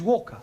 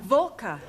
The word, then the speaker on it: Walker: Walker Walker what W is pronounced what your employer's name is Walker yeah volker do you know how many shots mrs.